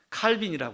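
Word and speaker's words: Calvin: 이면서 장로교의 창시자인 플라 프랑스 사람이니까 프랑스의 발음은 깔뱅 이라고요 깔뱅 스위스 깔뱅 칼빈이 하죠 칼빈은 이렇게 말했습니다 하나님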